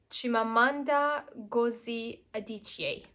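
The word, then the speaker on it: Chimamanda Ngozi Adichie: into a movie half a Yellow Sun by chimamanda gozi adichie that's how you pronounce her name this one I think is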